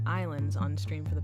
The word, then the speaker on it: Ylands: hey everyone after playing Wyland's or how it's actually pronounced islands on the stream for